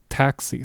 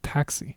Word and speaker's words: taxi: It's a KS sound. The example word for this is a universal word across many many languages and that is taxi. Okay, taxi. So, you know how to pronounce this already because you have that word in the English language, taxi. You just have to say it with a more Spanish accent, taxi.